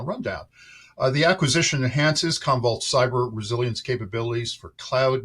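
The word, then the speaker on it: Commvault: scale here Stephen uh you're you're attending uh convolt I have to pronounce this correctly convolt shift Road show uh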